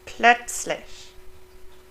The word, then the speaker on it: plötzlich: Z is pronounced like in English TS, ts. So it's not a z or a z or s, but ts, as if there's a T in front of it. Like plötzlich. Here it has a T, but you would pronounce all of them as if there was a T, not just plötzlich.